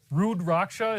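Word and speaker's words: Rudraksha: Rudracha is how you pronounce it.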